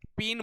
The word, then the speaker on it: paean: ठीक है, फीन बोला जाता है, इसका उच्चारण आप लोग लिख लीजिएगा, फीन बोला जाता है, PEAN, PAEAN, पीन बोला जाता है।